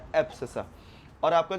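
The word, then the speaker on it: abscissa: ये जो Y axis की जो लाइन है ना बेटा, इसको हम लोग बोलते हैं एब्सिसा। क्या बोलते हैं बेटा, एब्सिसा, एब्सिसा। ठीक है, एब्सिसा। आप इसको इसका जो स्पेलिंग है वो चेक कर लेना, गलत भी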